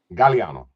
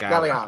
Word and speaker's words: Gagliano: Is it Gagliano? So it's actually, so phonetically, you are correct. However, it is Gagliano. Gagliano. Okay. Yep, Gagliano. All right. Yeah, so the second G's kind of silent in it.